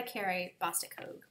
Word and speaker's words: Carrie Bostic Hogue: It is by Carrie Bostic Hogue.